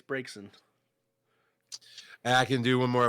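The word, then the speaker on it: Braixen: a break break said how do you say that b-r-a-x-n yen brexin uh i'm not sure right i what it's the dancy fox oh uh yeah i think it's breaks in i can do one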